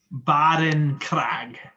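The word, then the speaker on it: Barincrag: southern coast of foco can you can you spell that sure it's b a r i n c r a g baren krag and you guys see on the horizon the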